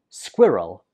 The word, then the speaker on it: squirrel: So in the first syllable, we pronounce it squi. Squi. And the second syllable is just rull. Squirrel. Squirrel.